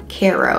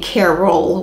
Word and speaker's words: Caro: of the Carol line Caro I feel like I'm saying it wrong like I'm saying Caroll with an L but it's Caro Caro the c a r